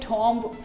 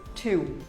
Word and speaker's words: tomb: I used to call it tomb for years. Some of you might even call it tomb, but the actual pronunciation of the word is tomb. It is simply called as tomb.